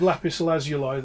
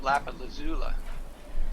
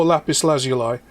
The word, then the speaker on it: lapis lazuli: I do have a little piece of lapis lazuli that's on the bookshelf behind me as well. Oh, I've been pronouncing that I have wrong. pyrite. What? Because I pronounced it Lapalazula.